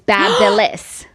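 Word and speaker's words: BaByliss: So it's Babelis.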